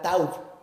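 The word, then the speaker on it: תו: esta señal, la palabra hebrea es la palabra tauv, así se pronuncia.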